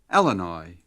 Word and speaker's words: Illinois: The state of Illinois is celebrated by the early settler in the pioneering song called, in the pronunciation of the time by some, Elanoy.